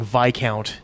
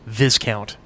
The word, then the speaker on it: viscount: Star Wars series, and he kept pronouncing Viscount as Viscount. Huh. Because it's obviously spelled Viscount. It's like a regal position type thing, but it's not Viscount. It's Viscount.